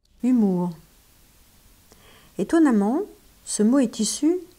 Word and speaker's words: humour: humour étonnamment ce mot est issu du vocabulaire de médecine il s'est prononcé humeur pendant assez longtemps les humeurs en médecine